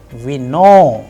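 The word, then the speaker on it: вино: Alright, and in case of vino, it is again on o and it is being pronounced as vino.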